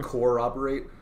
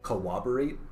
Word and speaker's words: corroborate: about in England but here in America this is often pronounced collaborate mm-hmm like as if it has a W in it I did this for the longest time without knowing what the spelling was collaborate deep like zo w o